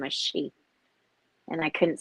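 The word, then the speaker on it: sidhe: called the she it's it's spelled s-i-d-h-e but it's pronounced she yeah okay so that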